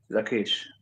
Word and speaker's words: Lachish: Let's say it like this. Lachish. Lachish. Say Lachish. Say Lachish. Lakish. Yeah, that's right Yeah, there.